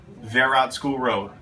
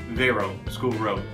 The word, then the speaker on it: Verot School Road: start with one that I have trouble with verat School Road or is it Vero School Road or verat